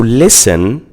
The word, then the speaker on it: listen: So listen has six letters L I S T E N. Listen. But as you can see, the letter T after the S isn't pronounced. So it's silent. It's not said. It's just written. So in this word, listen, we have six letters, but we have only five sounds.